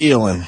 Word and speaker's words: Elin: All right, Elin. That's how you pronounce her name.